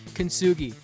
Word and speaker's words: Kintsugi: Enter Kintsugi. Pronounced kintsugi, named after the Japanese art of turning broken pottery into something beautiful and resilient.